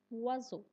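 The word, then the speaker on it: oiseau: For example, O and I together make a was sound. Was sound. Example is W was means a bird. Repeat after me. Wazo.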